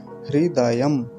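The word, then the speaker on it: हृदयम्: का भी पूरा है तो क्या उच्चारण होगा हृदयम दयम ओम हृदयम हृदयम ठीक है बहुत ध्यान से इसका उच्चारण करेंगे अगला मंत्र देखिए ओम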